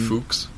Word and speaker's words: PHUX: And Fuchs. no. No, PH sounds like F.